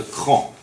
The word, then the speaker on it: Craon: Et le grand maître, c'est le deuxième grand maître de l'ordre, il s'appelle Robert de Cran. Ça s'écrit Craon, hein, C-R-A-O-N.